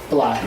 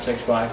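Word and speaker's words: 6LACK: I love Black, not 6 Black. I love Black. Yeah, I just said that because that's how it's spelled. I know, and everyone always makes that mistake.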